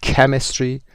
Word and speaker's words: Chemistry: Chemistry صدای CH در اینجا کی تلفظ میشه، که تلفظ میشه.